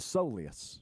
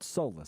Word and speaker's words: soleus: And turns out it's a soleus, not solus.